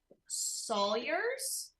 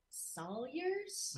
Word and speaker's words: Salyers: um William gosh William forgive me if I'm mispronouncing your last name Sawyers Salyers okay Mom forgive me